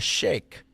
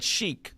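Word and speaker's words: sheikh: So this guy is called a a shake. Okay, I would have said shik because that's what I thought it was, but it's shake.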